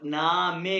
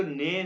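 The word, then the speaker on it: Name: इसको नेम नहीं कहेंगे, ये एक बात याद रखो, ये इंग्लिश नहीं है, तो ये जर्मन में कहेंगे नामे। तो आप सबसे पहले इंट्रोडक्शन में कहोगे नामे, तो वेया, वेया मीन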